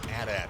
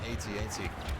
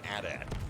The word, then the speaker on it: AT-AT: The official pronunciation of that machine is AT-AT, by the way, not even AT-AT. You can pronounce it either way, I'm sure, but the official pronunciation is AT-AT.